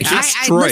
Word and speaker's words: asteroid: Asteroid is hard. You're making it 3 syllables. Don't. Just say asteroid.